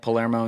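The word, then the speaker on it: Palermo: stone so I'm just so I know that spelled like polaro and yeah p a l e r m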